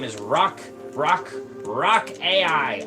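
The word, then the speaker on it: Raq: Kind of like the object that you would find on the ground.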